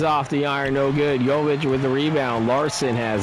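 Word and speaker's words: Jović: Not sure if it's Jovic or Jovic. It's Jovic. Jovic. And as I said, I'm learning some of these pronunciations from the PA announcers.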